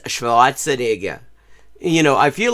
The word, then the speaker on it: Schwarzenegger: Like I've never heard him insisting on pronouncing the W like a V as it would be in German.